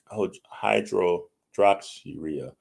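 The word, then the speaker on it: hydroxyurea: not pronounce right so I don't want to mispronounce her it's hydro hydro drops urea it's h y d r o x y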